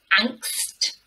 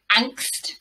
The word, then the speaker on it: angst: So this is word number three, and it's pronounced angst, angst. So I think it sounds quite Germanic, this word.